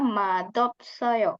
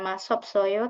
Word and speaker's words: 맛없어요: Ini cara bacanya madopsoyo. Jadi S-nya dibaca seperti D. Madopsoyo. Ya. 과자는 맛없어요. Madopsoyo. Itu emang ada pengecualian ya, 여러분. Jadi bukan masopsoyo tapi madopsoyo.